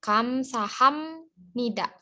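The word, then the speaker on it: 감사합니다: sama pantun tidaknya kan dia nulisnya khamsah apni Da tapi karena biar ketemu nian aturannya jadi miam Jadi dibacanya Kamsahamnida Kamsahamnida Kamsahamnida kayak gitu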